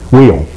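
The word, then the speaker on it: Wiehle: it was called while is that the way they pronounced that wheel whe originally pronounced wheel and then later it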